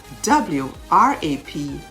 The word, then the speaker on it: wrap: answer rock w r a k rack rap w-r-a-p wrap hole w-h-o-l-e hole what have you noticed about silent letters though each one as a vowel or